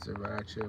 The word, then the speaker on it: Sriracha: I think it's pronounced Sriracha, but it's spelled S-R-I-R-A-C-H-A.